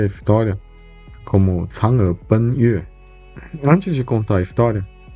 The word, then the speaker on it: 嫦娥奔月: Em chinês, a gente pronuncia a história como Chang'e Ben Yue.